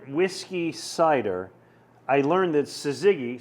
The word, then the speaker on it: Syzygy: I learned that Syzygy, spelled S-Y-Z-Y-G-Y, Okay.